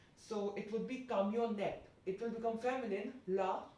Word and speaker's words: camionnette: front of cameo, then N will be of course pronounced because there's a vowel after N. So it would be camionette. It will become feminine, la camionette.